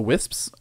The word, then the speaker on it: wisps: Which means this has actually started to pay for itself, minus the wisps. Yeah, wisps. I can't pronounce the S at the end of that. It sounds really weird.